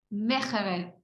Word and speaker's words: Meegeren: En español, Meegeren. Según Google, porque le puse así, ¿cómo se dice en neerlandés? Y es Hans van Meegeren.